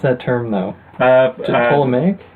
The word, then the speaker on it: Ptolemaic: How do you pronounce that term, though? Ptolemaic? Ptolemaic, yeah.